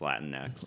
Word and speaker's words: Latinx: to pronounce like the when they write it lat like lateen X oh it's just Latin next Wow okay yeah so